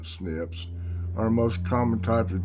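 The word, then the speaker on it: SNP: uh and the single nucleotide snips pronounced uh snips our most common type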